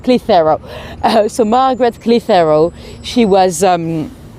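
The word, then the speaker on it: Clitherow: When you spell it, it looks like Clit Harrow. So Clit Harrow, I find it funny, very childish really, but she's actually called Clitheroe.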